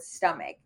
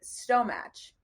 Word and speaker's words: stomach: stumbled upon the word stomach I know how to say it now but back then I I said Stow match and I remember just